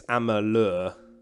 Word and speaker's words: Amalur: At the moment, it's Kingdoms of Amalur or Alamur. I know I always pronounce it incorrectly. I think it's Amalur. Is that right?